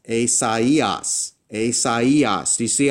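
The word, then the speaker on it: Ησαΐας: But with the two dots-- what that does is, it tells the reader, hey, don't pronounce this as a normal diphthong. Pronounce these letters as if they're separate and individual. So in this case, I would pronounce this not as Ησαιας "ay-sai-as," but instead as Ησαϊας "ay-sa-ee-us."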